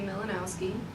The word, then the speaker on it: Milanowski: So it's spelled exactly how it just got sounded out, just like back in 3rd grade. With Miss Gregor was telling you about sound it out, honey. That was my 3rd grade teacher. She's my favorite. It's spelled like Mill and now Ski.